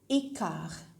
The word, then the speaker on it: quart: If you are going to say quarter past, then you say écart. Écart. T, which is at the end, is silent.